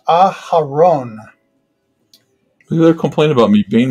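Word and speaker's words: אהרן: In Hebrew, that's pronounced Aharon.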